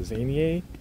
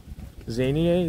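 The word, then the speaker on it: Zannier: There's one like that starts with a Z, can't really pronounce it, Zanier. Zanier, Z-A-N-N-I-E-R.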